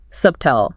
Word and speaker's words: subtle: The B is just a relic from its Latin spelling. Subtel. It's just hanging around doing nothing in the sound.